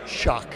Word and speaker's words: Xoc: for that as well it's spelled xoc but it's pronounced shock shock right and that